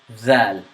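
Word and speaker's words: ذال: letter that the letter Zell this is pronounced from the tongue and it's characterized by the tip of your tongue meeting the edge of the front teeth front upper teeth and the tongue sticks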